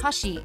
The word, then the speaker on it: 84: a former nintendo employee his cafe pronounced hashi can be written as 8 4 in japanese 1984 is when he